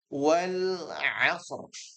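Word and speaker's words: وَالْعَصْرِ: Kesalahan yang pertama yaitu pengucapan huruf ain. Huruf ain bukan a, bukan wal a, tapi wal. Dia punya sifat yang sering kita ulang namanya tawasut atau bainiah. Yaitu tengah tenggorokan ya ditekan A bukan a.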